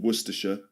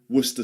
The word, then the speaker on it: Worcestershire: There's actually 2 ways of saying it. You can do the full way, Worcestershire sauce, and some people say Worcester sauce. Okay, so you've got 2 pronunciations. You can say, some people say Worcestershire sauce, others say Worcester, Worcester sauce. Worcestershire becomes Worcester.